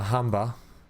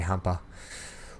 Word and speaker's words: Humber: too barton up a humber i know people are probably mad at me i don't say it correctly all the time button up a humber i always say humper will get a new